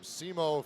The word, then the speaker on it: Simo: And just a step on the left wing offside was the Finnish skater Olli Koljamala from Simo, Finland. I believe that's how you pronounce that, S-I-M-O.